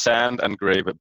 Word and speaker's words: Sandgrav: I mean it's a it's a Danish your last name so I mean I don't really think that it's meant for international pronounced age it's it's it's sand and grave what was your motivation